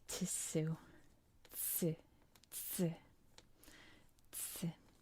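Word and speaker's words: つ: It is used all the time, and it is not to. It's pronounced tsu, tsu, tsu, tsu.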